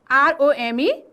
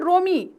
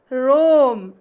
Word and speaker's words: Rome: Next word is R-O-M-E. No, it is not Romy. It's not Romy. It is Rome. R-O-M-E, Rome. Rome is the capital city of Italy. Okay, Italy is the country and Rome is the capital city of Italy.